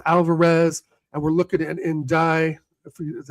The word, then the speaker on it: Ndiaye: I know we're in talks with Alvarez and we're looking at Ndiaye, is how you say his name, from Everton, who I rate.